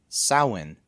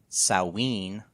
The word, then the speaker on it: Samhain: pronunciation of it is sawin there's no m pronouncing it they're not saying it's